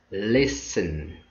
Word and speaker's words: listen: one by one first 70 with words stn listen we have silent uh t in here moisin